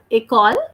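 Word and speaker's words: école: next one it called it is called a call which means school in English and the spelling is EC o le the sound of later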